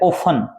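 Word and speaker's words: often: इसमें T silent है, क्या है भी टी साइलेंट है।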